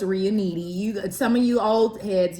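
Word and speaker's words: Riunite: The red is by, I'm not sure how to pronounce it, but I believe it's Reunite. No, it's Reuniti.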